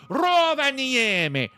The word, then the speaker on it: Rovaniemi: You got to say it like the Finnish people say it. Rovaniemi.